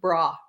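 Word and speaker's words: bruh: It's going to be pronounced a little bit different, but bra. Bra? B-R-U-H, bra.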